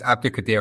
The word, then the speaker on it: Abdulkadir: And my first question to you as an expert in this field is, have I got that pronunciation of the surname right? Pretty much. It's Abdulkadir Husanov.